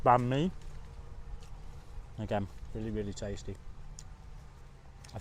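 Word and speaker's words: bánh mì: or sometimes it is m i but it's pronounced B me again really really tasty I think the word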